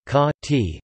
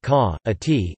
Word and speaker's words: Caatinga: Caatinga, Portuguese pronunciation, ca-ti, locally ca-a-ti, is a type of desert vegetation, and an ecoregion characterized by this vegetation in interior northeastern Brazil.